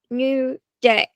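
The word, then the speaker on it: NUDAI: school using a new website called New Day, but it's spelled N U D A I.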